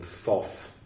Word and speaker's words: Thoth: a dialogue with thought I think they mean Thoth though it's spelled thought of all the Egyptian god of writing Thoth now with the H indicating that the previous spelling was a typo all right uh yes where